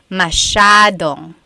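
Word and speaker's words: masyadong: Elijah said, "How do you pronounce mashadong?" Mashadong means a lot. So the s ya is a sha sound. Mashong.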